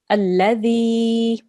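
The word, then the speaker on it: الذي: So we will pronounce this alladhi. Alladhi. Good. 2 seconds because this is a yamad.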